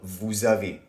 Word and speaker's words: vous avez: So what they're saying is basically, usually the S at the end of nous is silent. However, because avoir starts with a vowel, we have to do la liaison. So it sounds like nous avons. It sounds like the word is one, nous avons. For example, vous avez, it's the same.